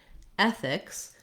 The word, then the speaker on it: ethics: First of all, looking at the word ethics, we have first syllable stress. So my syllable, my first vowel, is stretched, and then my fixed syllable is shorter and has a reduced vowel. The letter E says the sound. I wrote it here as an E. You might also think of it as EH.